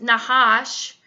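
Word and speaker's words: נחש: if you are to look up the word Nakash, which is the serpent in Genesis, if you are to look up the Hebrew word, it will actually bring you to a root word that we pronounce as Nahash, and it's Hebrew word H5172.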